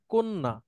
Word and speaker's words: কন্যা: আরো আছে যেমন এইটা এটার উচ্চারণ কি হবে কন্যা এটার উচ্চারণ সঠিক উচ্চারণ হচ্ছে কন্যা ও আচ্ছা ঠিক আছে